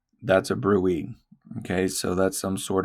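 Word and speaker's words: bruit: If you hear a turbulent sound because of plaque, then it's called a brewy. Okay. Pronounced brew.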